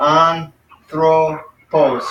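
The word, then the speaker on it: ἄνθρωπος: So we got anthropos. So we got 3 syllables. And the accent is on the first one. So it's anthropos.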